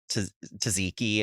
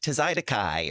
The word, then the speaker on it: tzatziki: Did you hear what was that thing where that guy was saying tzatziki and he was like tzaidakai or whatever?